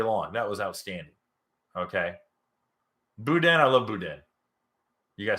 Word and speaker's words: boudin: Boudin, I love boudin.